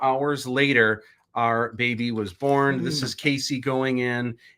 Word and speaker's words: Beaux: But is how his name is pronounced. A lot of people have been asking because it's spelled Beaux. It looks like it would be pronounced, but it's just.